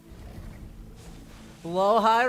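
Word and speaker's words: Blåhaj: Blowhigh require. The Sword Labians now have a pet blowhigh? Which, by the way, that is much closer to how you pronounce it than Blahaj.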